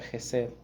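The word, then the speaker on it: חסד: La palabra misericordia que nosotros encontramos aquí en el salmo 136, así en español, misericordia, es una palabra hebrea que se pronuncia Jesed. Jesed es una de esas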